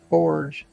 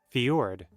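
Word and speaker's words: fjord: pretty deep this is y apparently I was pronouncing the for I always thought these things were called Forge for for Forge for f maybe I should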